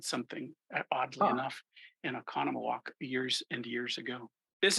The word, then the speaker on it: Oconomowoc: particular trip I was in Oconomowoc oh yeah and you pronounced it right yeah there right that's something that's a real challenge for people not from the area yeah um well I